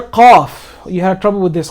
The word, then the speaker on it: qaf: This qaf comes in from more deeper than where the kaf is pronounced.